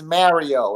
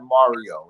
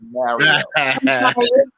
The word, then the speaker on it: Mario: Please say his name like this. It's Mario. It's not Mario. It's Mario.